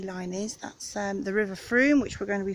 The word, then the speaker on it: Frome: is, that's the River Frome, which we're going to be following round. And it's Frome rhymes with broom. They get very cross if you call it Frome, even though it's spelt Frome.